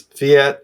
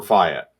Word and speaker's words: fiat: silver market and also it's fiat or fiat okay i mean you can get online and it's pronounced both ways so you know it's